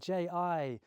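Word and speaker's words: 太极: And so Tai Chi, Ji, is actually how the Chinese pronounce it.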